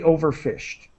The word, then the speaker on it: overfished: Just a T sound at the end of fished. Severely overfished.